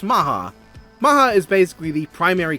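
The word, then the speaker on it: Mach: And yes, it They pronounce it Maha. It's Mark, but it's Maha.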